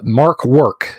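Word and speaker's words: Mörk Borg: free league called and apparently i've been saying it wrong all along it's uh mark work is what it's called uh it's uh mic work might work something like that um but anyway it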